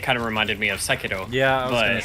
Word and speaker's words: Sekiro: See, I was thinking more, it kind of reminded me of Sekiro. Yeah, I was but gonna say. Oh, for fuck's sake! You did not really call it just like that, did you? Sekiro.